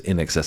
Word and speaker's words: INXS: cool introduction to nxs I would wanted to say that as INXS when I first saw it but it is in excess I believe if not you guys